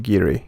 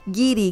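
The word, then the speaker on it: guiri: the same it's pronounced giri gidi yes he's dropped to you yeah so as i was saying in spanish we usually don't pronounce the u when we use the um the g letter okay so if you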